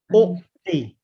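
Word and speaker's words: أُعْطِي: So the alif should have a dhamma. U'ti.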